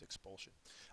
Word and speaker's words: expulsion: that you would use expulsion uh it's a noun second syllable has the accent mark it means the